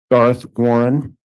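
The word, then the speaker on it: Garth Warren: good afternoon can you state your name and spell it for the record Darth Warren G a r t h w a r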